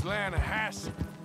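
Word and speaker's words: Lannahechee: Yeah, but it's pronounced Lanahasse.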